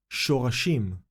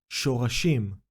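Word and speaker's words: שָׁרָשִׁים: The first letter is Shin, which is decorated with Kamatz Katan. Can you identify another Nikud sign we have already learned? We have the letter Resh decorated with Kamatz Gadol. To complete the word pronunciation, we see the last syllable is Shim.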